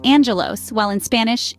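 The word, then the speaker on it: άγγελος: the word Angel for instance in Greek it's pronounced Angelos while in Spanish it's angel or consider the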